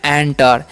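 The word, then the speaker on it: enter: आर है है ना तो इसे इंटर नहीं पढ़ना है क्या पढ़ ना है एंटर एंटर मतलब क्या होता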